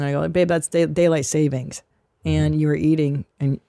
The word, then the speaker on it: daylight saving: It's not daylight savings and loan. Yeah. It's daylight saving.